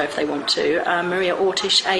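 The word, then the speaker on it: Orsic: A lot of people spell it Orick. O R S I C. I don't believe it was that. I believe it was Ortish.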